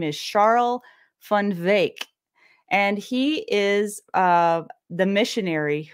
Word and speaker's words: Charl van Wyk: His name is a little tricky to pronounce here, so it doesn't sound like what it looks like. His name is Charl van Wyk.